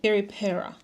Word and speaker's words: Peri: Wait, Perry Perry. Peri. That's the correct way to say it is connected to Cleo.